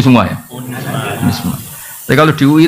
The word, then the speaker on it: UNISMA: Jadi saya mohon karena UNISMA ini kan biasanya bacanya UNISMA apa Zunisma. Unisma UN ya sudah berarti sudah Indonesia banget gitu. Saya tuh masih menangi orang baca Zunisma Zuii. Karena setengah Indonesia setengah rodok mambu-mambu Inggris. Itu sekarang sudah diterbitkan ya